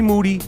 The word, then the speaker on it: Moody: is Michael Rapaport moody last name rhymes with duty the best podcast in